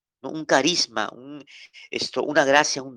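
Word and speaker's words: χάρις: palabra gracia en el griego es caris Cómo se escribe describe c o también K está a r i s karis se lo repito k a r i s Cádiz cáriz de ahí viene la palabra carisma no un carisma un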